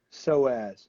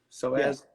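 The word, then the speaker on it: psoas: you say zoez soaz so ass yeah that's a spot right beside your body silent p so as so as it's a it's a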